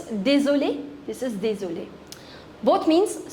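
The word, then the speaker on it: désolé: But the pronunciation of both of them is same. This is dulli.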